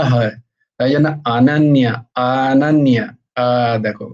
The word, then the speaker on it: अनन्य: अपि चेत् अनन्यश्चिन्तयन्तु मां येन पर्युपासते অনন্য নয় অনন্য অনন্য তো নয় অনন্য নয় আ আ অ্যাকচুয়ালি কথাটা হচ্ছে অনন্য অনন্য সংস্কৃতে উচ্চারণে অ এর উচ্চারণটা আ হয় অ নয়